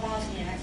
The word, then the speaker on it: Bosniaks: No, Bosnians who are Muslims are called Bosniaks, which unfortunately rhymes with English maniacs.